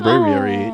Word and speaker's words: Braviary: They Braviary. really didn't even try. Braviary. Braviary. It's a What brave rhymes with Ariel. It's a brave bird.